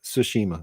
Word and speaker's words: Tsushima: the year um sushima ghost of tsushima that's how you say it i always have trouble